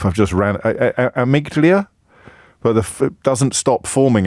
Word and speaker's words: amygdala: It's amygdala.